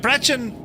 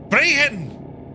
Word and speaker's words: Brechin: You murdered Brechin. I'm not sure how to phonetically do it for you. Is it Brechin, Brechin, Brehin? Brehin! It's a soft C.